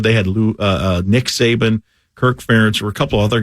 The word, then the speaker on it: Ferentz: Ferentz, yeah.